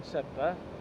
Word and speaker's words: Sedbergh: I think it's pronounced Sedbergh, but it's spelled funny. It's like got a B in it.